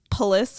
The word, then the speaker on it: Palis: So this vampire called a Palis, because it rhymes with police, Palis.